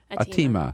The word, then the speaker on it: Atima: Atima, is that how you pronounce it? Atima.